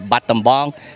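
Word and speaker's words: Battambong: can you smell yeah it's just like you the way you pronounce Billabong the surfing brand so it's bottom bomb it's b a double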